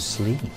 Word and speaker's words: sleep: of the second show she was slipping alone couldn't she find somebody else to slip with her or maybe she meant sleep the harp is a